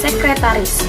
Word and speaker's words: sekretaris: Sebenarnya pengucapan yang benar itu sekretaris. Jadi karena kan dalam bahasa Inggris kan secret, oke? Jadi ngomongnya sekretaris.